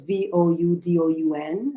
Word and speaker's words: Vodun: The word Vodou, Vodou, is a version of the spelling of the Fon word Vodun. So it's Voudoun.